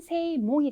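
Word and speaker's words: 正門: 그 다음에 정문 같은 경우에는 네, 이때는 쇼가 아니라 세로 읽으셔야 돼서 정문은 세몽이 되겠습니다.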